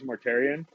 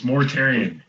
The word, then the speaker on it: Mortarion: Dude, it's fucking Mortarion. Mortarion. It's Mortarion. Yeah, you're getting better. Nice job. You said it right the first time, man. Yeah. I'm proud of damn it. Yep, it is. You fucked up now. Mortarion. Still saying it right.